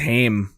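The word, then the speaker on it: Haim: I think it's pronounced Him, but um Oh, sorry y'all.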